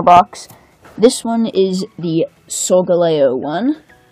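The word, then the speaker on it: Solgaleo: this one is the sole galay 01 some people pronounce it so Gallio I think it's old alejo makes more sense to me anyway as usual we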